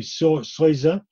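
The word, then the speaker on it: Seuse: There was Meister Eckhart, there was Henry Souza, in German it's pronounced, and then the third one suddenly escapes me.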